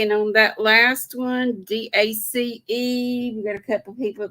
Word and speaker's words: dace: What is a dace? D-A-C-E. Rhymes with race. Spelled the same except with a D to begin with.